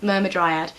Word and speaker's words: Myrmidryad: Myrmidryad is more interesting, and that is, by the way that I pronounce it, myrmidryad.